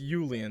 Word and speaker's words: Yulian: Yeah, it's Yulian, not Julian, by the way. It's, like, spelled with a Y.